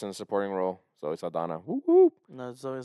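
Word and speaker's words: Zoe Saldaña: Well, her name is spelled with a nya. Yeah, she has an accent on top of her name. Yeah, but she doesn't acknowledge it.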